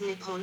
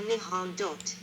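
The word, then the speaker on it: 日本: The name for Japan in Japanese is written using the kanji and is pronounced Nippon or Nihon.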